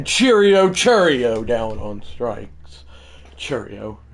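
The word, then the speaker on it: Chourio: Cheerio. It's how it's pronounced by the way.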